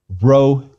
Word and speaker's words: rho: p but it's not rho is an r if you can trill it the way they do in the mediterranean please do i on the other hand a son of wisconsin will proceed with a good old american er please repeat by